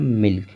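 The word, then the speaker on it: milk: तो यहाँ पर इन तीनों वर्ड में के पहले यल है और यल का उच्चारण हो रहा है।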